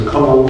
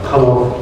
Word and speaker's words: Conall: My name is Conall. Conall, rhyming with tunnel is how I pronounce it.